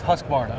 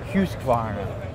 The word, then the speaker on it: Husqvarna: well in the US it's husk Mar okay right don't put the other in there just say hus but if you really want to say it like a Swede we're going to say hus hus Varna what's up everybody gie